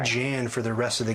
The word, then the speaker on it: Jan: It's Jan from Denmark. That's how we pronounce it.